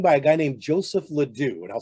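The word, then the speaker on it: LeDoux: great neuroscientist anything by a guy named joseph ladue and i'll spell that l-e-d-o-u-x he has done a lot of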